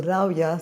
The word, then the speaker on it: Rawia: Yeah, it's not a V, it's W.